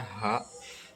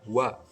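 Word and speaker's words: は: di sini artinya adalah walaupun hurufnya ha tapi dibacanya wa yang artinya adalah ya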